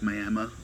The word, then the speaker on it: Miami: to a town called, it's spelled like Miami of Florida, but it's Miami, they say.